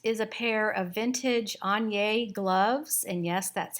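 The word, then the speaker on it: Aigner: all right next is a pair of vintage anya gloves and yes that's how you pronounce it i actually have an entire course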